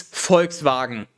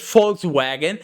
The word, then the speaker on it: Volkswagen: be like okay yes english people we pronounce it fox wagon but if you want to be accurate just like you know pronouncing geria as gorilla is wrong but sure people will know what you mean it's volkswagen if you